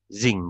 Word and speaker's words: sinc: Zing, bacanya zing itu. SINC beta. Zing gitu ya.